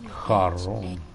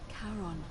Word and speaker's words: Charon: It's just as you described it, only your pronunciation is a little off. The name you heard wasn't it was Charon. Charon.